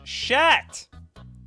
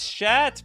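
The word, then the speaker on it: Szat: it's minion of tavesh chat it's shat people I didn't I didn't know they or Suzette I think if I was pronouncing this in the Polish way it'd be called chat which is the past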